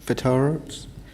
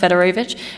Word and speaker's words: Fedorowicz: Councillor Fedorowicz? Fedorovich, thank you. Yeah, Actually, sorry. I've started saying it. My actual name is pronounced Fedorovich.